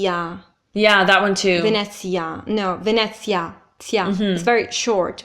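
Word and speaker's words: Venezia: oh sure man this sounds shorter second one Vanessa Vanessa Vanessa which would be Venice in English an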